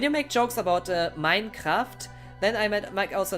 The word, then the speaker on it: Minecraft: pronounced like in england we still pronounce it like in english minecraft i have never heard